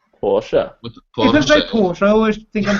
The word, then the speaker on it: Porsche: yeah yeah yeah uh it's a German company so it's proun Porsche Porsche por I always think